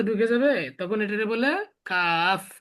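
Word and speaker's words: كاف: Calf, এটা একবারে normal কয়ের উচ্চারণ, ঠিক আছে? ইংরেজিতে দিলে কি কাফ, কে, শেষে কি আছে? এফ আছে, শেষে কি আছে? এফ। সুতরাং এফ, কাফ শেষে যে দুই ঠোঁটের মাঝখান দিয়ে বাতাস বেরিয়ে যাবে এমন উচ্চারণ হবে। Calf, calf, calf, calf, calf, calf.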